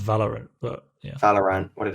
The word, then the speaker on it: Valorant: That's pronounced Valorant, but yeah.